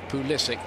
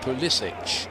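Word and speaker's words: Pulisic: at Borussia Dortmund understand that's how he wants his name to be pronounced Poole Issyk not police it so that's what everybody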